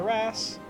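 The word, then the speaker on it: wrasse: there there's the RASS I heard it in a video since then so now I'm actually going to pronounce them Rass o can you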